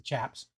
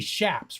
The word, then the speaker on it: chaps: a chap the chaps which they should be shaps right they actually we we always we always say it wrong they should be shaps because the the name of it came from the chapparel right the chapparel bushes with the big thorns right that's where they